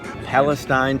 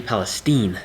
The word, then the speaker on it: Palestine: place we're here in Palestine Texas does she Palestine not Palestine and if you say it wrong they know you're not from around there that found a restaurant